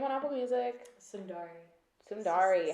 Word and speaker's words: Sundarri: apple music what's your name on apple music sundar sorry how do you spell it s-u-n d-a-r-r-i nice okay so okay so